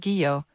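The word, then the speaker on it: guyot: is named after Arnold Geo Princeton University's first geology professor it is pronounced geo with a hard G as in give Oceanic plateaus the ocean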